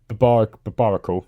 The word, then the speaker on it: Barbaracle: Alright, Phalanx, Poliwag, Oddish, Hisuian Growlithe, Seedot, Shellos, and a Barbaracle, that's how you pronounce that.